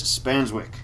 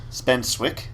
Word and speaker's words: Spanswick: people how do you spenwick did they say or what usually it's say that or spenwick or there's an S I know but people often miss that out for some reason people